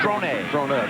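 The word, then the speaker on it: Dronett: I didn't realize he goes with the French pronunciation now. Drone.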